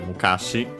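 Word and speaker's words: 昔: First we have Mukashi. The old days, the past, and so on. With unaccented.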